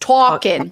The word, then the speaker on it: Tarkin: Yeah, there's no R, but it is pronounced Talkin.